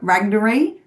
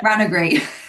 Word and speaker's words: Ranagri: Because you do lots of stuff with, you're the harpist now for Ragnari. Am I saying that right? Ragnari? Ranagray? Yeah. Ranagri.